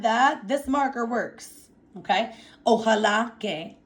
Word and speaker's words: ojalá: And our O stands for the Spanish word ojalá. I'll say it one more time for you. Ojalá. There should be an accent on the last A.